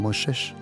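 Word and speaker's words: משה: Cuando dice Juan 1, versículo 17, que por Moshe, como ellos pronuncian Moshe, vino la Torá, pero por Yeshua HaMashiach vino el Gesed y el Amuná.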